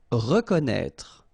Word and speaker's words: reconnaître: Reconnaître. So exactly the same thing with this accent circonflexe on the top of E. You don't pronounce it, okay, but you should write it.